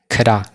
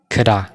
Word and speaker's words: could have: Could have kanas akkamitti pronounce goona inni kida. Mee na waliin jedha kida jennee pronounce goona jechuudha.